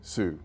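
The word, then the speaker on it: Sault: northern part of Michigan you have s a l t but pronounced the same Sue Falls Sue St Marine oh I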